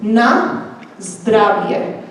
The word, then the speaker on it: na zdravie: And another good one is nice driveway. Did you hear that one? Nice driveway for cheers in Slovak or bless you, which is na zdravie.